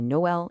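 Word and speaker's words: Noël: Those 2 dots, the schéma, that's just a signal to say 2 vowels separately. It's why we say Noel instead of Noel.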